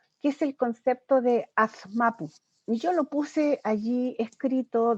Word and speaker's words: Azmapu: De allí que yo voy jugando con las formas de escritura y por eso les presento aquí el término Azmapu o Azmapu. Se pronuncia de la misma manera.